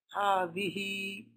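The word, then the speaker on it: هذه: And even though you can't see a mad after the letter ha, it is pronounced. So over here you say, there's a mad over here that you can't see, alif, ha, di, e. This is the pronunciation.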